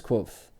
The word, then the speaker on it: Kvothe: My name is Quoth, pronounced nearly the same as Quoth.